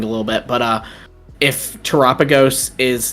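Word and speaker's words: Terapagos: It's Terrapagos. Terrapagos. It's Galapagos with Terra.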